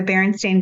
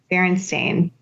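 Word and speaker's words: Berenstain: supposed to be said but it's Baron stain s a i n like that's not what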